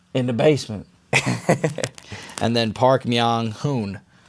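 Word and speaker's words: Park Myung-hoon: And then Park Meang Hoon Hoon rhymes with Moon.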